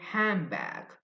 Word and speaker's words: handbag: For example, the word handbag. Handbag. The native speakers, native English speakers, they say handbag. So the N sound is changed. The N sound is N. N. But the native English speakers, they say M, the M sound, handbag.